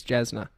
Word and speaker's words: Jasna: So J is Y in Serbian. Yeah. So then that is, the translation is Jasna, which makes sense to then just replace it because everyone's going to get fucking...